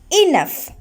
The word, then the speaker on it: enough: f but we write the letters g and h and it pronounced as first sound so in english we use these letters to pronounced as first sound so g and h here pronounced as f see the next word